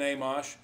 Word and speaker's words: Amash: You know, the other thing I wanted to touch on nationally is that I'm excited that Justin Amash, I think that's how you say it.